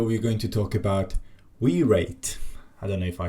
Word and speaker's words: Wireit: this package name and I think it's not wear it it's wire it basically